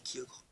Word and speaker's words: Kyogre: beauté avec primo kogre Kyogre comme vous P enfin comme vous voulez le prononcez moi je dis Kyogre généralementraent sty book magnifique